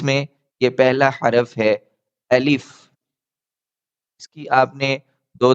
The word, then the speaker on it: الف: الف بعض اوقات ہم پڑھتے ہیں یا الیف پڑھ دیتے ہیں یا الپ پڑھ دیتے ہیں یعنی آخر میں پے پڑھ دیتے ہیں. تو یہ غلط ہے. آپ نے صحیح تلفظ یاد رکھنا ہے الف. الف. اس کو لمبا بالکل نہیں کرنا. یہ جلدی سے پڑھا جائے گا.